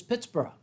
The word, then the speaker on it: Pittsburgh: So the original pronunciation was Pittsburgh, as in Edinburgh. Yes, and not borough, as you might think of when you go to New York City. It's bruh.